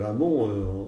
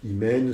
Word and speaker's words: Amon: vous voulez dans les la racine de de amont en égyptien c'est JMN donc pareil on sait pas comment ça se prononce donc c'est Amon c'est imè c'est ce que vous voulez vous avez aujourd'hui